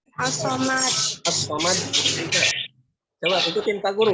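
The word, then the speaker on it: الصمد: Bisa nggak bacanya? As-Somad.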